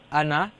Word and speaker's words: أنا: ولا أنا عابد. There's no stretch on noon. You know the noon. أنا the alif of أنا is silent. Yeah. أنا عا. No stretch on the noon.